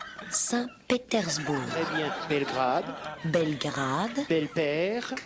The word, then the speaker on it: Saint-Pétersbourg: Saint-Pétersbourg.